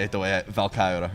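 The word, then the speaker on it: Valkyrja: It's been about 5 years since the release of, I'm just going to say it the way Valkyra, right? Yeah, Valkyria. Yeah, how do you say it? Valkyria.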